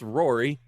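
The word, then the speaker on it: Ruaidhrí: tildas everywhere that's pronounced Rory um somehow you just you leave out most of the consonant when you're in an Irish name uh plays Tito uh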